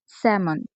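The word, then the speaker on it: salmon: এছাড়া আমরা যদি আরো কিছু এক্সাম্পল বলি, সেক্ষেত্রে এল এর পরে যদি এম থাকে বেশিরভাগ ক্ষেত্রে এল এর উচ্চারণ হয় না, সব ক্ষেত্রে কিন্তু নয়। স্যামন।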